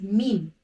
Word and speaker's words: Meem: Let's move to the third letter, which is Meem. Meem is pronounced from the dry part of the lips. In order to pronounce Meem, press the lips together and take the sound into the nose, doing nasalization.